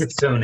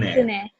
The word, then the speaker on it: Kitsune: I On the believe wiki- it's pronounced Kitsune. Kitsune.